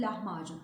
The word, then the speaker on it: lahmacun: şeylerden örnek vermek istedim lahmacun doğrusu lahmacun ince söylemiş lahmacun değil bu Türkçe deniz Kaplan diksiyon hataları arasında yine bu bu harflerin inceltilmesi ince okunması gereken harflerin icat